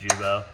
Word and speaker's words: Guibo: You're gonna check your Jubo, which is the Guibo for most of you guys. It's actually pronounced Jubo.